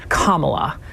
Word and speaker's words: Kamala: Us by the way Mr President it is kamla kamla Harris so how big of